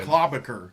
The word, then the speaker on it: Klobuchar: pronunciation. Klobuchar. Yep. Klobacker.